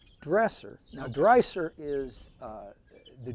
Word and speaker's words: Dresser: and I know that the now do you pronounce it dresser or dry sir dresser now dresser is uh the German and of